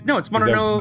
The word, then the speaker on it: Mononogatari: It's Mononogatari.